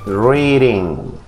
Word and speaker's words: reading: Y asegúrese que la letra D que usted observa aquí la pronuncia también como la R y decimos reading. Reading. ¿Ok? La D suena como R.